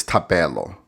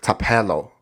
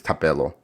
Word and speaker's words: Thapelo: It's kind of funny because a lot of people, when they pronounce my name, they say Thapelo. Thapelo. What's my name? Thapelo. It's Americanized way, but really my name is Thapelo.